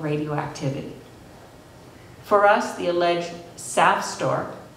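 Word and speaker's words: SAFSTOR: For us, the alleged SAF store, pronounced like sap, leaking radioactivity remains, call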